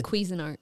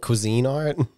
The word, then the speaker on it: Cuisinart: normally like 290 I think it was the quein art the problem it's the what Quin art isn't it Cuisine Art you say it like it's queasy it's a